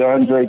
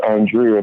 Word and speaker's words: Andre: It'd be Andre. Everybody gets mixed up because it's spelled like Andrea, but it's Andre.